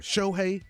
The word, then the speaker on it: Shohei: Shohei, is that how you say it?